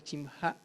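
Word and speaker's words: שִׁמְךָ: En hebreo aparece acá el término que es itkadesh shimha, que es la conjugación de el esta palabra nombre, tu nombre se pronuncia chimja.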